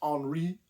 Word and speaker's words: Henri: Now, spelled like Henry with an I, but it's I'm sure it's pronounced Henri with the French uh in the French manner. Henry Benolen or Henri Bencolen was is kind